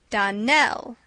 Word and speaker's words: Donnell: Donnell, accent on the last syllable, and St.